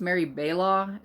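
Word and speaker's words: Mary Balogh: And it's got Mary, I think it's Mary Baylaw is how you say that, Joe Beverly, Anita Mills, Patricia Rice, and Maura Sager.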